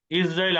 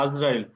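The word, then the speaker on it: عزرائيل: জিব্রাইল জিমে জেড দিয়ে শুরু, মিকাইল মিমে জেড দিয়ে শুরু, ইসরাফিল আলিফে জেড দিয়ে শুরু, ইসরাইল আইনেও জের হবে, কিন্তু আমরা বাংলা বলি আজরাইল। আজরাইল উচ্চারণটা ভুল হবে ইসরাইল, যেহেতু এখানে এই এটা অনারবি শব্দ, প্রত্যেক ফেরেশতার নাম জেড দিয়ে শুরু হয়।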